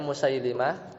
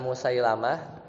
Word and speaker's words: Musailimah: al-aswad al-ansi ya musailimah bacanya musailimah bukan Musailamah kalau dibaca Musailamah dia lebih Kadzab daripada musailimah gitu ada yang bilang seperti itu jadi musailim alhfi alkadzab kemudian